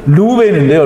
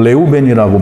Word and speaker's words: 레우벤: 그러면 루벤인데요. 루벤은 그 히브리어로는 레우벤이라고 발음을 하는데요.